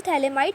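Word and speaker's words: phthalimide: अब देखो इसकी प्रिपरेशन के लिए सबसे पहला मेथड है गैब्रियल थैलेमाइड सिंथेसिस। ठीक है? पी यहां पे साइलेंट होता है।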